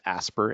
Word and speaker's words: ASPR: for preparedness and response which is often just pronounces a spur a SPR certainly that's a good